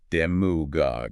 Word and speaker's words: demagogue: And we'll start with demagogue, pronounced demugog, with the stress squarely on that first syllable, demuggly relevant in current